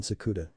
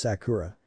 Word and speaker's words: Sakura: Sakura and aside gently listen sakuda my name is Sakura she corrected now out of habit